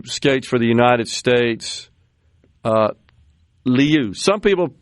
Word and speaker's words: Liu: It's Liu. And I've seen it pronounced both ways. I'd go with Liu. Yeah, I think that's probably right, where the I is silent, right?